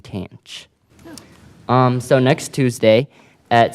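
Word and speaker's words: tanh: However the pronunciations are a little different and instead of the trig function s cosine and tangent um the hyperbolic functions are pronounced as cinch kosh and tanch.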